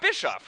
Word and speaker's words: Bischoff: you know so yeah you got Bischoff right that's that's the right way to say that yeah absolutely uh so